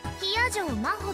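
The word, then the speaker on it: 比屋定真帆: Hiyajo Maho って読むの。私の名前、Hiyajo Maho。漢字でもローマ字でも誰も読めた試しがないから、先に言っとくわ。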